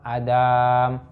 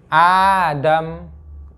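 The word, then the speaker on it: آدم: Ini kadang orang bacanya di ba itu qala huwa Adam. Salah. Tulisannya Adam itu hamzahnya yang panjang. Gini tulisannya, bukan gini. Ini salah. Ini yang betul. Adam, bukan Adam.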